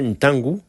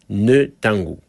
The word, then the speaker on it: Ntangu: Par expérience, je sais que les Européens ont souvent du mal à prononcer la lettre N devant nos noms africains. Par exemple, mon frangin Ntangu se faisait appeler Netangu.